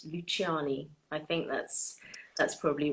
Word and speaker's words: Luciani: So it's like the way we say it is Luciani, but technically the way you would say it is with the hard C.